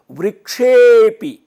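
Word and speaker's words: वृक्षेऽपि: ए में मिलके वृक्षेपी, और जो अंग्रेजी के एस की तरह आपको अवग्रह दिखता है उससे पता लगा कि अ ए में मिल गया और इसका उच्चारण होगा वृक्षेपी।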